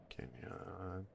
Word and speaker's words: Kenyon: Kenyon. Yeah, that's how you pronounce it, and I've been doing good.